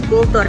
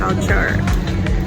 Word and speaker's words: culture: Banyak orang yang bilang kultur. Nah, itu salah ya bacanya culture.